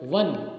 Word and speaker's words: one: In the same manner, W, like wa, the sound wa is inserted before the letter O in once. When you say this, when you write this word, one, O-N-E. So actual pronunciation should be one, but we speak wa, okay?